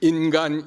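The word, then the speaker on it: 인간: It is pronounced ningen in Japanese and ingan in Korean.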